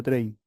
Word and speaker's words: Trane: Se escribe Trane, ¿sí? Pero se pronuncia Train.